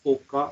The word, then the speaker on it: foca: La Foca. I'm not very sure about the pronunciation of this one.